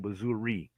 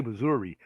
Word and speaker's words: Missouri: uh let me see I've always said Missouri I'm from the Midwest is that how do you say it I say Missouri but when you get between those two cities going down 7 yeah a lot of people say Missour oh jez okay or